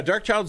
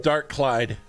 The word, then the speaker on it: Dark Child: Everyone calls him Dark Clyde. Dark Clyde. He hates that.